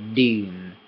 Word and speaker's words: ดื่ม: Deum. This is kind of a tricky word to say. I think the it's kind of a tricky sound to make. So deum. It's a low sound. Deum. It's tricky.